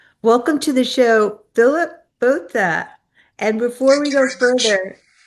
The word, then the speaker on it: Botha: Well, um, very few people are able to pronounce it correctly, so please don't worry. It's BHA, but I've heard many, many different versions and I've learned to answer to all of them.